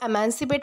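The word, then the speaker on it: emancipate: वह है अमांसी पेट इसे जो है वो एमांसिपेट प्रोनाउंस किया जाता है जिसका मतलब होता है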